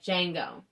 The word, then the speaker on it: Django: It's spelled Django. So it's like Django.